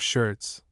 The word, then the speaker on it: Schertz: of the name of Schertz, or something of the sort, Mr. Blenkinsop pronounced it to rhyme with Hertz, who was declaiming away